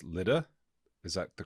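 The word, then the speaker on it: Lydd: In Arabic, we should pronounce it. Yeah, Lid. I think in Hebrew it's Lod.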